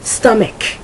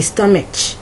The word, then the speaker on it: stomach: Stomach. I've heard people say stomach. It's stomach. All right.